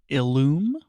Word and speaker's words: Illum: This is the Lytro Illum, I believe is how you say that. And this is Ilium, but I think you're right. I believe Ilium is something different. Illum.